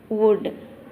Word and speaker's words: would: We pronounce as could, would, but you should not write as CUD, could, WUD, would. Learn the correct spelling. COULD, could. WOULD, would. So here L acts as a silence.